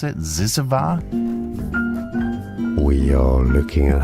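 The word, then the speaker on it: Zyzzyva: Is that how you pronounce it? Zizava?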